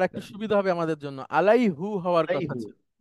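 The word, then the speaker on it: عليه: আলাই হি, ইয়ারকে সাকিন করে তারপরে পেশ উচ্চারণ করাটা কঠিন, কিন্তু জের উচ্চারণ করাটা সহজ।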